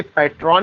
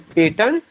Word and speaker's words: patron: जो पेटन की स्पेलिंग है PATRON, उसका प्रोनाउंसिएशन समटाइम्स वी से पैट्रॉन, लेकिन पैट्रॉन प्रोनाउंसिएशन नहीं होता, that's wrong, that is पेटन।